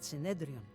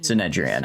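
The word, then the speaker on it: Synedrion: seem to be genuinely on our side and everyone here at Sedrian really Sinedrian. I keep mispronouncing it.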